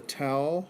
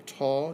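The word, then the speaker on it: tau: is another protein called the towel or the tall depending how you want to pronounce it protein strips of it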